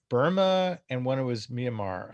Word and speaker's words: Burma: colony they called it burma the name kind of gradually gradually changed burmese people they pronounce it like there's no like r or things like that but kind of like obama yeah with the with the